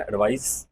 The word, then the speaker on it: advice: The report एडवाइज, इसका pronunciation में भी ज जाएगा, सी में स आता है, एडवाइस, और ये एडवाइज।